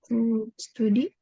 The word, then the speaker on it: study: Study. Study ya, bacanya study. Jadi U itu mostly dibaca A.